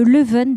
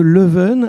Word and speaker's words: Leuven: Vous m'avez parlé, quand on a commencé à préparer cet échange, de Leuven 2030.